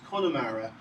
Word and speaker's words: Connemara: Conaiki Mara, or nowadays pronounced as Connemara, was ruled by a family known as O'Keady.